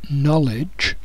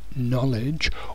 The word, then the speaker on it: knowledge: you have to remember when you see K and N together the K is silent so when you look at this word knowledge knowledge or knes the K